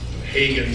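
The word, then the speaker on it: Hagan: And remember, Hagen does not rhyme with Reagan.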